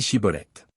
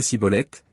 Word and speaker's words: Shibboleth: » Il lui disait alors, « Eh bien, dis Shibboleth. » Et il disait Sibboleth, car il ne pouvait pas bien prononcer.